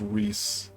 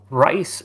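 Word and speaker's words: Rhys: It's pronounced Reese. Oh, of course. My world in my name in my world is pronounced rice rice birchwater.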